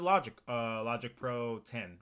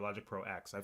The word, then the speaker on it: Logic Pro X: This is Logic Pro 10 or Logic Pro X. I've heard people pronounce it both ways. I'm pretty sure it's 10 or X, regardless.